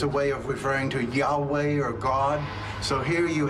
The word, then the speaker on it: Yahweh: The first inclination of Prof. Tabor to pronounce this word as Yahweh was correct.